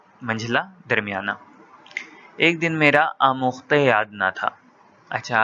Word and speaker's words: آموختہ: یاد نہ تھا۔ اچھا، اب کچھ لوگ اس کو آموختہ پڑھتے ہیں کیونکہ فارسی لفظ ہے تو اس میں جو تلفظ ہے وہ ہے کو بڑی یہ کی طرح ادا کرتے ہیں، جیسے اگرچہ، کیونکہ، چنانچہ، تو اسی طرح آموختے یعنی سبق۔ مولوی صاحب نہایت